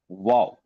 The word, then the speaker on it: WOOOW: जो यह वाओ है इसकी स्पेलिंग थोड़ी सी हटके है। Right W triple O डब्ल्यू वाओ और हमारा TGSPL का